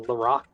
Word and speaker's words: Lorac: then uh yeah uh North American pronunciation of it is just um it's pronounced as it's SP so Lorac okay the way she